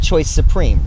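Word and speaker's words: Choix Supreme: But I mean, would you I pronounced that choice Supreme, right?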